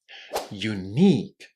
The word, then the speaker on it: unique: A very strong stress on the second syllable and then you are safe. Unique.